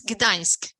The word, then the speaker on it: Gdańsk: It's Gdańsk. So it's like Gdańsk. you have the N is kind of a little bit softer. It's like in a Spania, but not as long. It's Gdańsk.